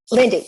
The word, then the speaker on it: Lynde: And that's how I pronounce it, right, Lynde? Lynde, yes.